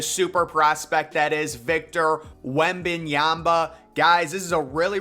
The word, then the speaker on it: Wembanyama: Everyone makes fun of me in the way I say his name, but he's saying Wembanyama. At least I say Wembanyama, but I've been doing it right, Wembanyama.